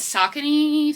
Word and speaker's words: Saucony: Okay, next we have a pair of men's Saucony, that's how you say it.